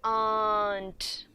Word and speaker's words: aren't: and pronounce it correctly this R has to be silent and we say aunt this is was it